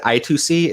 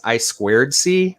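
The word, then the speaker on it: I²C: remotely and i'm sorry i said i2c it's actually referred to as i squared c i keep mispronouncing it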